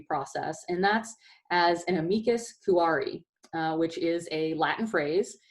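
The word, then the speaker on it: amicus curiae: is a Latin phrase it's probably the most mispronounced Ray's in litigation and the law does use a lot of latin phrases so we use this one quite a bit and amigas kirari is what it's it's Latin for friend of the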